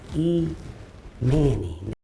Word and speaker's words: Imani: I've always said it. Everybody else says his name wrong. I'm so tired of y'all being in them comments talking shit, making little dumbass videos. I didn't name this nigga, okay? His mama named him. I just used the name she used, which is Imani.